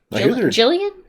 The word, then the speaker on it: Gillian: like Gillian Anderson yeah Jillian Gillian Jillian yeah sure Jillian was G though it's weird soft G well good news about